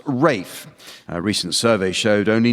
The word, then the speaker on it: Ralph: Although his first name is spelled R-A-L-P-H, it's pronounced Rafe.